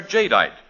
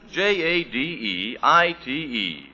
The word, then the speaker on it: Jadeite: Anchor Hawking's amazing new kind of dinner wear, Jadeite. Now, it's spelled J A D E I T E.